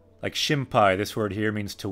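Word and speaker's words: 心配: But in this kanji, it's pronounced shinpai.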